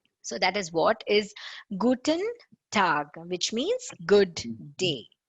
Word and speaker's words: Guten: Here, if you see Guten, you have to really remember how it is. It is like Gut apostrophe N.